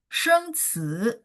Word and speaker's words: 生词: 生词 dia karena CI nada dua, jadi bacanya ci, sheng ci.